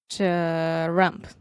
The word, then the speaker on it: Trump: If you're having trouble with this sound, you can put a vowel in between this, and you can say ch-rump. Trump. Ch-rump. Trump. Okay, now put a stress on the second part and say ch-rump, ch-rump, ch-rump.